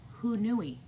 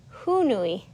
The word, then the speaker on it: Haunui: We're pronouncing it wrong. It's Hoo-noo-ee. Hoo-noo-ee. I kind of like that because who knew? Yeah, Hoo-noo-ee.